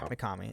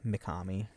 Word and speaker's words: Mikami: Yeah, Mikami. It's Kami is Kami. It's Kami. M-I Mikami.